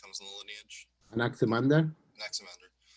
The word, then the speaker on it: Anaximander: you kind of see, like, how do you pronounce the name of his, like, the next person that comes in the lineage? Anaximander? Anaximander.